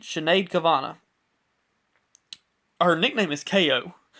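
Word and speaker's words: Sinéad: what I saw but I want to say her name is chenade chenade cavana her nickname is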